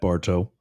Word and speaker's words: Bartow: Yes, Pennsylvanians, it's pronounced like that, Bartow.